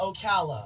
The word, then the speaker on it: Ocala: you hey david what's up yes it's uh ocala ocala florida we're got it what's going on